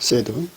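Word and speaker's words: שד: 두 유방은 암사슴의 쌍태 새끼 같고, 유방이라는 단어, 원어로 그 유방은 현지 발음으로는 새드입니다. 새드. 그러니까 영어 발음에 그 새드하고 혼돈이 생길까봐 여기 오늘은 그 구음, 음력으로 발음하겠습니다. 시아드입니다. 시아드인데 시아드라고 발음 안 하고 그냥 사드, 연음으로 해서 사드로 발음해서 유방이라고는 말을 계속 쓰면 아무래도 덕스럽지 않을 것 같아서 그냥 사드라는 그 음역의 샤드, 발음은 새드입니다.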